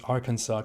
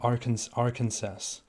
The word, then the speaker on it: Arkansas: I have had the opportunity to pronounce Arkansas correctly. I'm very happy about this. As many other people also do, I used to think it's called Arkansas.